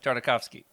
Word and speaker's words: Tartakovsky: with like the Clone Wars and especially Genndy Tartakovsky. Oh man, I'll never say his name right. Okay. You can say it for me, Jared. Tartakovsky.